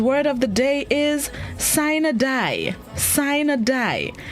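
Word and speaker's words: sine die: court and corporate procedures synadai entered english in the 17th century the word of the day this morning is spelled s-i-n-e space d-i-e sign a die it's an adverb which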